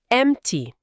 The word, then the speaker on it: empty: O ponto aqui é o P. Muitas vezes na fala rápida do inglês americano, esse P quase some ou some completamente.